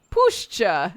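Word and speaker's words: puszcza: like the wind wrestling in the leaves push pushcha great pushcha is the right word not Forest forests are like Fields or Orchards cultivated he spat as he said it and pushcha she is older than even the concept of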